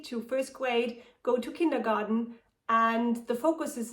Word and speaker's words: Kindergarten: So let's start with the most known one, kindergarten, or how we pronounce it in German, Kindergarten, with the translation of Kinder is children and Garten is garden, so it's basically children's garden.